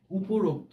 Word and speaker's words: উপরোক্ত: অনুযায়ী এইটুক জানি যে উপরোক্ত এই কথাটি যখন তুমি লেখো তখন এটি তার নিজস্থ উচ্চারণে উচ্চারণ করাই যুক্তিযুক্ত অর্থাৎ উপরোক্ত এভাবেই আমরা বলতে পারি এই কথাটি আচ্ছা আমরা